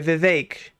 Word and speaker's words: Vivek: name is the fake it rhymes with cake watch out for my